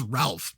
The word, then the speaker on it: Ralph: is that weird like his name's Ralph but it it's always pronounced Rafe right anyway whatever and